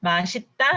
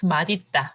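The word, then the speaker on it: 맛있다: mashita and second is madita which one first one mashita second foreign actually actually as i said and then following according to the rule of this pronunciation madita is correct actually right because math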